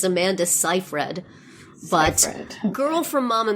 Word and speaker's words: Seyfried: All right, so Pop Buzz tells me that it's Amanda Seyfried, but Okay.